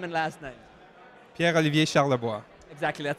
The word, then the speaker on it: Charlevoix: say that properly the way it should be pronounced your name and last night Pierre Olivier Charlevoix exactly it sounds much better when you say